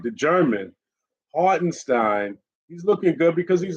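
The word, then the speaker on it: Hartenstein: Stein let me say it right the German hardenstein he's looking good because he's a hustle player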